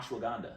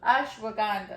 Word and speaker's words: ashwagandha: Ashwagandha. Ashwagandha.